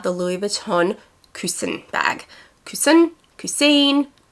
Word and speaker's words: Coussin: Coussin. I can tell you it's not Cousin, but I have heard it pronounced many different ways. So I refer to it as the Coussin bag, but I know that some people also say Coussin.